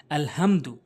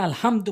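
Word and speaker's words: الحمد: সূরা ফাতিহার ওখানে তেলাওয়াত করতে গেলে আলহামদু, ওখানে আলহামদু বললে তো নামাজই হবে না, বলতে হবে আল হামদু। বড় হা হলকের মাঝখান থেকে উচ্চারণ করতে হবে।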